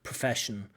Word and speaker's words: profession: So we don't quite get the schwa sound in there. So in English we have the sound which is used for almost every unstressed vowel sound. So profession, profession, profession, profession, profession, profession.